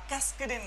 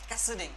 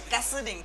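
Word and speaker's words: cascading: আচ্ছা এটার উচ্চারণটা ক্যাসকেডিং না, ক্যাসেডিং, উচ্চারণ কি? ক্যাসেডিং, ক্যাসকেডিং বলবেন না কেউ, ক্যাসেডিং, ঠিক আছে, ক্যাসেডিং স্টাইল শিট।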